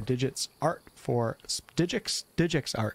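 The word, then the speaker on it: DigixArt: Thank you guys so much for watching, and thank you for Digix Art, that's how you pronounce it, for sponsoring this video.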